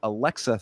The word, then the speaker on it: Alexia: It was Aluma Lukbunmi versus Alexa Thayanara. I guess she's got an I in her last name there. It would be Alexia, but I guess it's Mhm. pronounced Alexa.